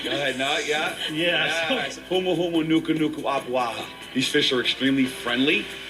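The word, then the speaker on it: humuhumunukunukuāpuaʻa: You guys know how to pronounce it? Yeah. Go ahead, no, yeah? Yeah. Humu humu nuku nuku apuaha.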